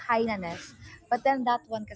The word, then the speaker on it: Hainanese: hainanese chicken hainanes now because i grew up with saying hyanis but then nice but it's hainanese chicken bianca they would say